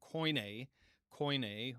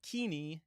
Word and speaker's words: Koine: hear the you know encounter the term coin co which is again what we'd call it in a rasmian pronunciation. Um but we're going to refer to it as kini is that how that's how it's generally going to be pronounced.